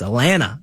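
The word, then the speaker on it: Alanna: people thought Alana Smith or Elena Smith it's Alena like Atlanta Atlanta without the tea Atlant exactly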